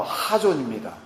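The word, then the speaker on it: חזון: 이 중요한 묵시가 없다라고 할 때 이 묵시라는 히브리 단어가 여러 번 들으셨을 단어 하존입니다. K와 H의 그 중간 정도 되는 그 강한 발음 하존인데요.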